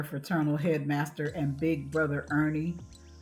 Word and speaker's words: Ernie: Kofi, Kfi, Kofi, Kofi, Kfest, hollered their fraternal headmaster and big brother Ernie, pronounced Ern.